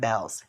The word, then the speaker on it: Bealls: It's spelled Bealls, but I think it's pronounced Bells, because I'm here in the South. I don't know how they pronounce it.